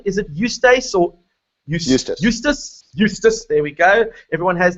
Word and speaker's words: Eustace: Eustace, there we go. Everyone has their own way of pronouncing their own name, and you're entitled to that.